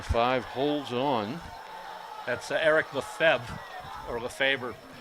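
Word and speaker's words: Lefebvre: or of a favor that the particular last name lef EBV re that are like 9,000 different pronunciation of the fav some even say the fever will go with Lefevre Feb for now northern France southern France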